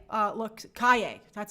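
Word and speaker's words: Calle: love it i have to say sasha uh calais uh looks kaye that's how you pronounce it sasha kaye looks so good as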